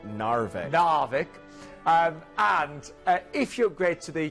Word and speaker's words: Narvik: Narvik.